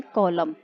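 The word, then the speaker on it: column: N silent, पीछे लगा हुआ है तो पीछे वाला साइलेंट, यानी कॉलम।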